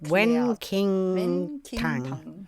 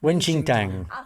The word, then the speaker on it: Wen Qing Tang: The blend that clears heat, Wen King Tang. Did I say it right? Page 38? Now I have to see. You don't pronounce it like that, but it's similar.